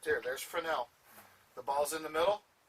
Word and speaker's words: Fresnel: I know it looks like Fresnel, but it's pronounced Fresnel.